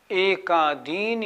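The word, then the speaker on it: एकादीनि: बात का ध्यान रखना अक्सर लोग बोलते हैं एकादिनी भाज्यानी यह गलत हो गया। इसमें नी बजाय छोटी इ के बड़ी ई की मात्रा हो गई। तो एकादिनी नहीं भाज्यानी नहीं। कैसे बोलेंगे? एकादीनी दी पे जोर लगाना है।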